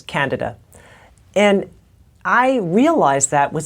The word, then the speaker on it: candida: actually misdiagnosed excuse me the pronunciation is candida and I realize that